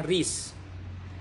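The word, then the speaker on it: recce: Kemudian berikutnya adalah rece, bacanya ris.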